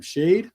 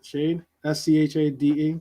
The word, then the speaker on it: Schade: well, and maybe even, how do you say his name? Shade, right? Shade, Schade, right? Sade. Like, okay. Yeah, Sade, that's the singer. Like Sade, like the singer.